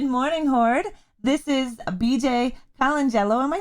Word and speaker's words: Colangelo: hoard this is bj kalanjello am i saying your last name correctly you're close you get it sort of the way that my substitute teachers would pronounce it but it's colangelo calangelo i you know